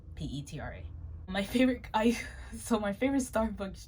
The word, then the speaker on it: Petra: If you didn't know how to pronounce my name, it's Petra. Petra.